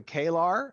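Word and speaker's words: Kaelar: with our human races so we have the klar and we have the value all right and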